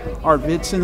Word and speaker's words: Arvidson: Kallan Arvidson, I pronounced your last name right.